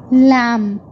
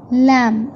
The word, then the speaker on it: lamb: As we speak this word, lamb, lamb. So letter B is silent.